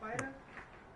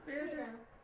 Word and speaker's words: Fitter: So that's how you say her name, Fitter, not Fighter? It's Fitter.